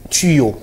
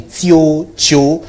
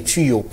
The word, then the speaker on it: tuyaux: et on parle de tuyaux en principe c'est comme ça que ça se prononce mais généralement on entend parler tio tio bizarrement ce n'est pas ça la bonne prononciation la bonne prononciation ses tuyaux alors ça d'ailleurs plusieurs